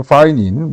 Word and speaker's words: pinene: 자, 세 번째는 이제는 파이닌, 뭐 피넨이라고 자꾸 그러는데, 뭐 피넨 원하시면 피넨이라고 발음을. 근데 영어 발음이 파이닌이더라고.